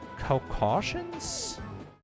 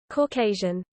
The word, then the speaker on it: Caucasian: How do you pronounce that word? Caucasions? Jeez. Google. Okay, Google. How do you say Caucasian? Pronunciation. Caucasian.